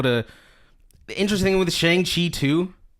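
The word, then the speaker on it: Shang-Chi: the interesting thing with Shang Chi 2, it's actually so people don't know this, it's actually Shang. Just so nobody gets confused, it's spelled like this.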